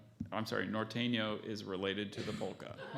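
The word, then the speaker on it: Norteño: helped a lot and and a sentence uh Nortena I'm sorry Norteno is related to the polka you know our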